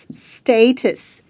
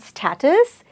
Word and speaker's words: status: So, when you pronounce the word, break it into two syllables and say stay, and then say status. So, it's not status, it is status, which is the current situation of anything.